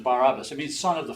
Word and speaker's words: Barabbas: last names here Barabbas this guy's last name was bar-abba his first name was hey soos or Jesus Jesus bar-abba was his full name but they only pronounce so they only gave us his last name and they called it by the Greek version Barabbas it means son of